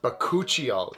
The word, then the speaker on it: bakuchiol: video i'm going to be talking all about bacocchio yes this is a buzzworthy ingredient i'm sure